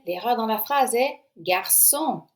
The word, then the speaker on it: garçon: La réponse est, l'erreur dans la phrase est garçon. Garçon s'écrit plutôt avec un CCDI.